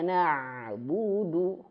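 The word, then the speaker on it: نَعْبُدُ: Tapi kalau huruf ain, maka mengalir. Ba, ba, gitu. Maka di sini juga kondisi seperti ini. Na, na, alirkan. Alirkan, ya. Iyyaka na'budu, budu. Ingat ya, budu harus dimonyongkan.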